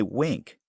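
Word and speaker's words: Winc: match to your palette wink is spelled w n c and they work directly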